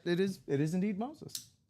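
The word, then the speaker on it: Moisés: Um and it turns out that it is it is indeed Moses. It's It's not Moises cuz I again, you know, you and I both came up with Moises aloo out there, right?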